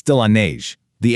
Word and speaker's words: neige: In French, it's de la neige. The N there sounds kind of like the word beige. Pretty, isn't it? De la neige.